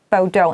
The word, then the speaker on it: Bordeaux: 那老师说这个 Bordeaux 它其实是那个波尔多法国的一个地名，所以说同学也是 Bordeaux。